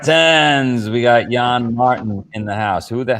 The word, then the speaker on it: Martin: yeah and the Mustang it's french-canadian so Martin as we say New England good oh good you